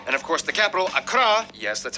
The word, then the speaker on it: Accra: Ho, and Tamale, and of course the capital, Accra, yes, that's how you pronounce it, Accra, located in the southeast along the coast.